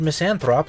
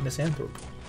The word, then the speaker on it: misanthropy: from the non holy tomb also I said miss an prop like an ignant it is pronounced misanthropy as far as I am aware yeah [